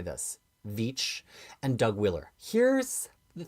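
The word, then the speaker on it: Veitch: Okay, let us continue to Swamp Thing by Rick I think you've taught me how to say this Vich and Doug Wheeler.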